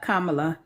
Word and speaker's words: Kamala: ping that out there people that's it kamla Kamala that's how you say her name kamla yes